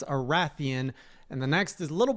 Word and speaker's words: Rathian: The first is that it's not pronounced Raytheon, it's Arathian.